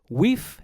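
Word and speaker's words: wīf: By the time wiba and kwoniz had passed into Old English, they were pronounced wif and kwen respectively, and they both meant woman.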